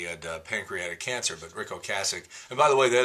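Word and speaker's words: Ocasek: He had pancreatic cancer, but Rick Oasic. And by the way, that is the correct pronunciation. It's not Oasich, it's Okasich.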